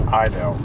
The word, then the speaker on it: Heidel: of our ancestors' family names is, they pronounce it Idel, but they actually came from Heidelberg, Germany. So it's sort of like Heidel, but the French in Louisiana kind of francophoned it to Heidel.